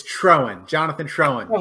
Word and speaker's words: Troen: It's Troen, Jonathan Troen, but Troen.